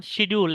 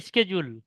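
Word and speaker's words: schedule: এটা তো প্রথমে শিখছিলাম শিডিউল, এখন শুনতেছি স্কেডিউল। রাইট, এই স্কেডিউলটা যে শুনতেছেন এটা সম্ভবত আশিকা মিস আপনাদের বলেছে। আসলে শিডিউল বলে কোনো শব্দ নাই, এটা হচ্ছে স্কেডিউল।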